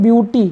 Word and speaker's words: beauty: Friends, यहाँ पर AU तो है लेकिन इसका उच्चारण बिल्कुल डिफरेंट है। तो क्या हो जाएगा? इसको हम पढ़ते हैं ब्यूटी। क्या पढ़ते हैं? ब्यूटी।